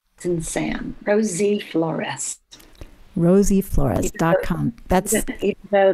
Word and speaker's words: Flores: because i would say my last name is with an s flores not flores right because they're f-l-o-r-e-z's in the phone book but i'm a flores so she said well